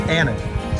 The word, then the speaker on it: Ahten: father did and so how you pronounce this last name is Anon um as I uh